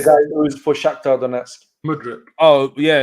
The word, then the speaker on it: Mudryk: Mudryk. Oh, yeah, it's Mikhailo Mudryk.